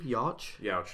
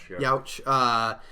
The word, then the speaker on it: Yauch: How do you pronounce his last name? Yauch. Youch.